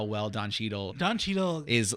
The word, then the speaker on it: Cheadle: How do you pronounce his last name? Don Cheadle. Don Cheadle.